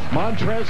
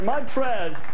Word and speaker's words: Montrezl: Montrez has a silent L in his name, which is unlike anything Jay has.